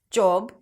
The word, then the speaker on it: job: Non-native speakers usually associate the vowel letter with a pure vowel sound. Therefore, pronouncing this o as o. Office, job problem. Whereas, it's actually a back open a sound.